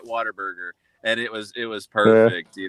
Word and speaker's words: Whataburger: It's Whataburger.